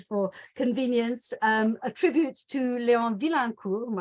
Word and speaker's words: Vilaincour: I will introduce both the people you can see here highlighted for convenience, a tribute to Leon Vilaincour, I have to pronounce it the French way, but we'll hear more about the name changes and the implications of that later on.